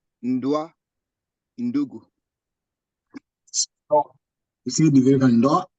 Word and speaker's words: ndugu: That is either the influence of your now original language or French that's making you pronounce G. It's ndugu.